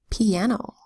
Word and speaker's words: piano: And I can say E, usually in multi-syllable words like piano. Piano is spelled P-I-A-N-O. And in the first syllable, the I makes a long E sound. It's an open syllable where the I says E.